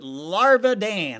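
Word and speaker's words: Larvadain: Gage Larvidan, I know it's spelled Larvidane, but they pronounce it Larvadane.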